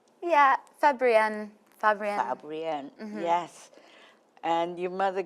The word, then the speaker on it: Fabrienne: Yeah, Fabrienne.